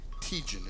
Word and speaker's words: Teigen: Chrissy Teigen is her name. Teigen, did I say that right? Anybody know? Teigen, I did say it right.